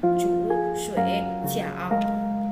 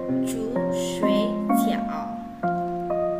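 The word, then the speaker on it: 煮水饺: Berarti cara bacanya bukan chu sui ciao. Putu ya, tidak benar ya. Tetapi chu sui ciao. Ya, atau lebih cepatnya chu sui ciao. Chu sui ciao. Ada 2 ya, bukan ada 3.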